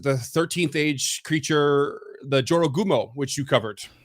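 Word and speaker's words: Jorōgumo: 13th age creature, the Jorogumo, which you covered. Gorojumo. One of those. Right syllables, wrong order. No, it's Jorogumo. It's with a J.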